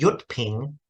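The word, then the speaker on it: Jyutping: in Hong Kong it's the yut Ping I think that's spelled j-y-u-t-p-i-n-g York ping pronunciation the yut Ping romanization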